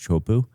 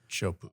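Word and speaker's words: Teahupoʻo: It's spelled Tiahuapoa, but it's pronounced Chopu. Chopu.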